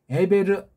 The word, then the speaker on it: 에베르: 에베르 아들들의 깡그리 에베르 아들들 깡그리. 요때까지겠습니까? 모세가 쓸 때도 이게 포함되는 거예요. 사무엘 시대도 에베르 사람이 있는데요. 뒤에도 나오는데요. 아브라함도 에베르 사람이라고 그러는데요. 한글엔 히브리 사람, 히브리인 그렇게 발음이 되지만 에베르예요. 에베르.